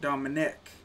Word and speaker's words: Dominique: at all but no my buddy spells his Dominique but pronounces it Dominic and we just call